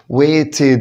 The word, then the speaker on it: waited: waited وقلت بعد التي وبعد الدي الاي دي بتنطق اد، عشان كده قلت waited.